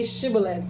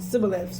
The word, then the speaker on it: Shibboleth: And when he said, "No," they said to him, "Then say Shibboleth." And they said Sibboleth, for they could not pronounce it right.